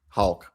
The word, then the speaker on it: Hauck: But like That It's Thomas Hauck, right? Or Hauk? Hauck. Hauck. That's what it is.